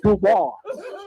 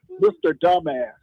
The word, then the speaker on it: Dubois: And I had to try to explain the French pronunciation of it. I said, Dubois.